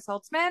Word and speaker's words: Saltzman: So, Saltzman, is that how you pronounce it? Saltzman? Saltzman, Yeah. yeah.